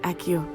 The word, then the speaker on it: Accio: Took me weeks to become proficient with Accio. Took weeks for me to get Accio. anything right when I transferred here. 발음은 아키오인데 여기서는 아시오라고 번역해놨네요.